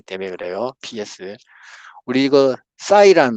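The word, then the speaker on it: ψ: 공식에 보면은 부사이 W 사이 사이라고 읽는 거 그 영어식 발음이에요 영어식 발음인데 사이는 이렇게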